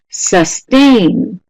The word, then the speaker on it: sustain: Number 2, sustain. Sustain. Listen carefully. Sustain. Is it the first syllable or second syllable stressed more? As most of you are saying, almost 100% accuracy. B, sustain, da.